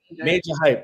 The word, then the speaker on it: Maja Hype: I understand how it's spelled, but I think he's pronounced Major Hype, right?